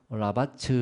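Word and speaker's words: רבץ: 초장에 누이시며 라는 말은 히브리어로 라 바츠 라고 발음 됩니다 이 말은 배를 땅이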